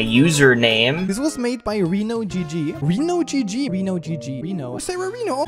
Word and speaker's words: RenoGG: This was made by RenoGG. RenoGG. RenoGG. Reno. Sarah Reno. Please, dude, it's pronounced Rhino. Please.